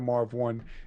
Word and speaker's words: Marv Won: who are researching him if you've never heard of marv one is spelled w-o-n it's marv m-a-r-v w-o-n yeah yeah you can